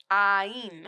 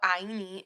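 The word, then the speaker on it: Áine: It's an A with a hyphen, or not a hyphen, with the accent. I-N-E. Ain. Ain, maybe? Yeah. Ain.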